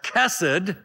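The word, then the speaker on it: chesed: because of uh the phonetics in Hebrew as cassid so it could be transliterated as c-h-e-s-e-d and it is without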